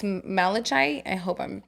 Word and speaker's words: malachite: Pronunciation. Oh my god, it's gorgeous. Malachite?